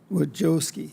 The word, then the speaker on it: Wojcicki: Wojcicki, did I say it wrong?